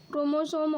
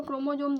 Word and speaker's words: chromosome: आप लोग कंफ्यूज मत होइएगा क्योंकि इसे क्रोमोसोम और क्रोमोजोम दोनों कहा जाता है।